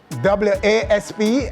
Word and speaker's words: Wasp: Two artists with the same sounding names, that those spelled differently as in W-A-S-P and W-A-H-S, in dancehall is pronounced the same, Was.